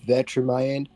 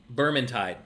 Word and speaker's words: Vermintide: They're the same makers of Vetramind and Vetramind 2. Vermintide.